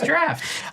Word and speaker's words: draught: It's pronounced draught? I don't know, dude. What? Drop? Yeah. The person at McNally's when I was like 15, well, I guess 21, told me it was draft.